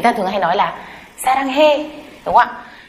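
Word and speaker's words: 사랑해: Nhưng mà các bạn có biết là cái từ saranghae đấy là viết là e hay ê không ạ? Nó lại viết là e đấy ạ. Thế nhưng mà người ta lại đọc là ê.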